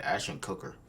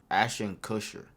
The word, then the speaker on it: Ashton Kutcher: Why say it like that? Ashton Cooker. Ashton Kutcher.